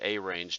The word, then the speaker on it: arange: I want to always type arrange, the word arrange, but that has 2 R's. This command that we want to use is arange. I even pronounce it arange just to remind myself that there's only 1 R.